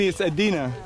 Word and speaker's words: Edina: Pronounce it phonetically. Edina. Edina. Yes. So, Wayne, it's Edina.